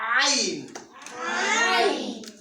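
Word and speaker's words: عين: Where is the Ain pronounced from? Top of the throat. No. Middle of the throat. Which other letters pronounced in the middle of the throat? Ha. So ha and Ain are pronounced from the same place, right? So it's like from the middle of the throat with the ayn, you feel like something stuck there.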